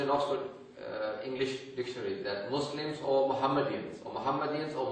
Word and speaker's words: Muslim: you would call yourselves Muslims many times a term Muslim because in English when you write s a single s then they would pronounce it with with a zed sound Muslim and because Muslim is